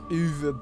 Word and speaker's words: Uwe: The only reason I know how to pronounce that name is because my arch nemesis Uwe Boll, the man who ruined